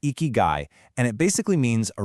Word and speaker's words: ikigai: It's pronounced eeky and it basically means a reason for being.